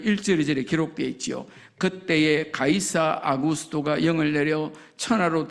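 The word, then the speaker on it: Caesar: 가이사는 우리가 읽는 걸로 말하면 시즈잖아요. 시즈 로마 황제를 시즈라 그러잖아요.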